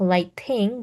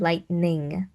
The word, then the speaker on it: lightning: Remember to pronounce the N in the middle here. So, not just lighting, but lightning.